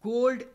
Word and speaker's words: gold: L is silent, whereas in cold or gold, L is pronounced.